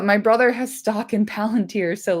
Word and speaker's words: Palantír: Like, h my brother has stock in Palunteer. So, like, I hear about it all the time. It's Palanteer. Palanteer. Palanteeri. Palanteer. Thank you.